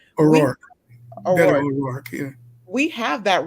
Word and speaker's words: O'Rourke: We have to stand up like O'Burke, is that how you say his name? O'Rourke.